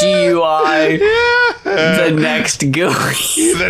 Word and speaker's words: GUI: The next GUI. Just the way it's like randomly capitalized. It's spelled like DUI, it's GUI.